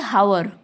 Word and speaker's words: hour: Okay, sometimes, see here example, HOUR, it can be hour, right? But we say hour, H will be silent.